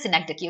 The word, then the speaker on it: synecdoche: Whereas synecdoche, you pronounce it as synecdoche, okay?